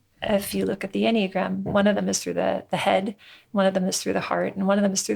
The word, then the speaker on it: Enneagram: Well, the Enneagram is spelled Ennea, and Ennea means 9 in Greek. Enneagram. Yeah, and gram just means picture or diagram. Enneagram. You literally pronounce it the way it looks. It's one of those words that are rare that way.